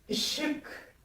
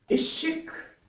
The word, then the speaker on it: ışık: Alors, ce I ne se prononce pas I. Il se prononce entre le I et le U.